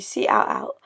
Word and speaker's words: cout: going to use, is called cout, and it's pronounced cout, and it spells count, effectively.